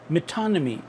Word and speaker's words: metonymy: Pronounce कैसे करेंगे? मेटानमी, मेटानमी। अब ये टा साउंड है, ये आप इसको थोड़ा सा ठा साउंड की तरफ लेके जाएंगे तो आपको इसके अंदर